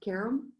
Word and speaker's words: Karam: And your last name is pronounced Karam?